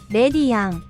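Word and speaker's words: レディアン: They just say it like this, レディアン which is a combination of lady and guardian, perhaps also in reference to the Virgin Mary.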